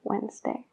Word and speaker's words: Wednesday: have a meeting on wednesday en la palabra wednesday no se pronuncia la d bajo ningún caso pero sí que Existen